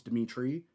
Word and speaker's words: Dimithri: The H is silent for the most part. It's Dimithri, right? It's like just like Dimithri without an H.